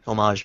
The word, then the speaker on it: homage: We pronounce it the French way.